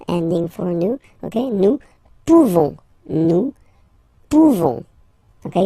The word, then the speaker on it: pouvons: So, classic ending for nous, this ONS ending for nous, okay, nous pouvons, okay, you don't pronounce the final S, nous pouvons, Then vous